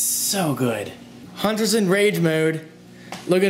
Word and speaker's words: Hunter: I know, I'm gonna relate a freaking game to Hunter. Hunter, yeah. And yes, I really pronounce my T's. Notice that Hunter, I don't say Hunter.